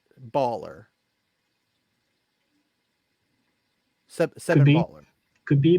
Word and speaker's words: Balwer: 7 is Balwer's Bulwer. Bawler, I believe. Baller. It's not. WLER? No. No, that's how it's pronounced. Baller.